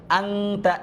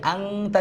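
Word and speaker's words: أَنْتَ: ওয়াকুলনা ইয়া আদামুসকুন আংতা, এই যে আংতা যে বললাম, কেন বললাম? নুন সাকিন, জজমুল্লাহ নুনকে নুন সাকিন বলে, এটার পরে তা আসছে, তা হচ্ছে ইকফার হরফ, 19 স্বরের মতো উচ্চারণটা হবে।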